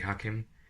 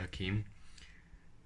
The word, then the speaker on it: Hakim: It's actually Hakim, but I call it Hakeem, as to others.